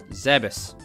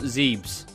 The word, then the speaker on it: Zebes: on the planet zebus which is pronounced zebus not zebes apparently being ordered to